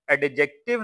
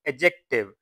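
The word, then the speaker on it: adjective: a noun और pronoun इसको students हम एडजेक्टिव नहीं पढ़ेंगे इसको हम पढ़ेंगे एडजेक्टिव डी यहां पर साइलेंट होता किसी भी नाम या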